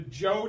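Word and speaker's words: Zhou: ruling family's dynasty called the joe dynasty the joe dynasty how do you say it alex h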